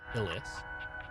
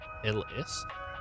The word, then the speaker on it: Hillis: I think I used to say Ali Hills, but I think it's like Hillis Hillis.